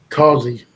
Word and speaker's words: Causey: I don't know how to pronounce his last name. Causey or Casey? Causey.